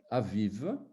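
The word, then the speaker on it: אביב: Je prends un mot, le printemps, aviv. Aviv. On a la première lettre qui est une consonne qui ne se prononce pas. Vous allez être étonné peut-être, mais cette consonne Aleph, ce n'est pas une voyelle.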